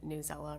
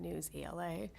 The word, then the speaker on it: Newsella: to mark it down another vote for pronouncing it Newsella rather than News ELA, because there's a debate going on in my house about which it is.